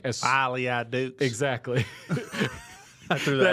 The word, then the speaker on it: Folie à Deux: review the movie, and it's always the people that like exactly pronounce it like I do, where it's like Folie à Deux. Yeah, but it never has that accent.